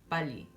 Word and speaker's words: 빨리: consonant, or a vowel and another 릴, it's pronounced as an L. So examples of that would be 빨리, right?